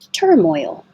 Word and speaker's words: turmoil: your tongue flat withdrawal turmoil so it's almost I didn't make it three syllables because I don't want you to think of turmoil but Moy your tongue goes up very high and then you yield